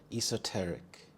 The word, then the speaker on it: esoteric: quintessential symbol of love esoteric esoteric the stress is on the second syllable T esoteric this describes something that